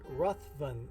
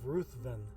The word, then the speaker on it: Ruthven: was spelled the same as this but he pronounced it rathvin instead of Ruthven so um so I've got a living room